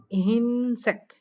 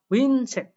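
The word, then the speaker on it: 흰색: হিমাং পরে না বলছে এখানে দেখেন হিনসেক এটা উচ্চারণ করবে বাট হওয়ার কথা ছিল কি হুইনসেক এটা হওয়ার কথা ছিল বাট এটা হবে না দেখেন হিনসেক অর্থাৎ ঋষিকা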